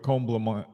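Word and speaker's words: Comblémine: Now, right now, Matthieu is working with Comblamine. That was how I was told to pronounce it.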